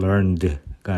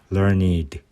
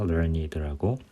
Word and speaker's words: learned: 그냥 과거형처럼 learned가 아니라 learned 라고 해서 I 발음이 여기 들어가서 그렇게 됩니다. learned라고.